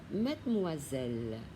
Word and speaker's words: mademoiselle: Bonjour mademoiselle. Mademoiselle. O-I đọc là oa, một chữ S chúng ta đọc là giờ.